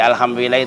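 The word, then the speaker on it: الحمد لله: Seperti alhamdulillah itu kan hanya H kecil, nggak dibacanya nggak tebal, tipis ya.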